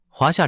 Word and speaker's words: 华夏: Cách phát âm là Huaxia. 发音是华Bạn Thanh thứ hai cộng với chữ tượng hình thanh thứ tư có thể làm điều đó .